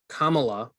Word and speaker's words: Kamala: No, it's Kamala is how you pronounce the vice president's name.